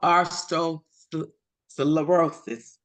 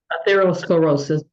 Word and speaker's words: atherosclerosis: level of Aro Solosis I might be saying that wrong come on out Dr R give me the right pronunciation atherosclerosis atherosclerosis level I wanted to make sure that you all knew that correct pronunciation look at these arteries